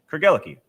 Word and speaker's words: Craigellachie: Think of it as a love story. Craig fell for Ella, who gave her the key to his heart. Craig, Ella, key. Craigellachie.